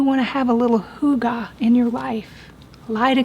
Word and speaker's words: hygge: In fact, we have a family here with the last name and they pronounce it hygge.